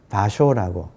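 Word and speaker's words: 芭蕉: 그리고 파초인데 이거를 일본 발음으로 하면 바쇼라고.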